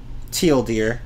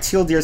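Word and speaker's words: TL;DR: whatever it doesn't matter teal deer yeah right teal deer sounds like teal deer and there was actually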